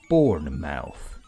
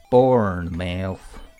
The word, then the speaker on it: Bournemouth: Bournemouth. He tried saying the word out loud. He said it in two distinct syllables. Born and mouth.